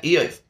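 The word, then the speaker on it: Iyov: Yeah, Eov. That's how we say it in English.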